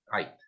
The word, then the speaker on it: Eidt: Então, a primeira parte, nome completo do senhor, Francisco Carlos EIDT. Ait, pronúncia. o AIT, isso? Ait, Tá. isso.